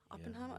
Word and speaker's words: Oppenheimer: day it's Barbie and Oppenheimer Oppenheimer I don't know if I'm saying that right you are saying it right but they're coming out